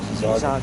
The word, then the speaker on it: Jizagan: So the emphasis is on the second syllable. Jizagan.